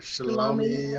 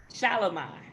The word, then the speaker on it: Shalimai: players, Dion's daughter, and I'm probably going to butcher her name, but Shalomi, I think, or Bossy, or whatever you got. How do you say it? Shalimai. Oh my God, I jacked it up bad.